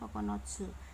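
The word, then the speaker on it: 九つ: Secara Kungyomi dibacanya kokonotsu.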